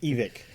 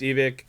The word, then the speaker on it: Evike: Yeah, it's it's evict. The reason it's evict is someone's name.